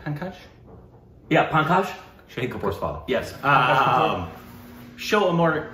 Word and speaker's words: Pankaj: Yeah, Pankaj.